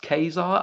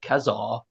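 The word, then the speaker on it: Ka-Zar: and I only recently found out Kazar is pronounced Kazar. I always pronounced it Kazar.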